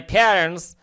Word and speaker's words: parents: তাহলে আমি রেসপেক্ট সম্মান করি শ্রদ্ধা করি মাই প্যারেন্টস আমার পিতা। এখানে টিয়ের উচ্চারণ না করতে পারেন আপনি প্যারেন্টস ঠিক আছে। এটাকে বলা হয় ভ্যানিশিং টি আমেরিকানরা সাধারণত এই টিয়ের উচ্চারণ করে না।